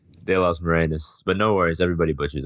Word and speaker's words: David de las Morenas: De Los Morenas, but no worries, everybody butchers it.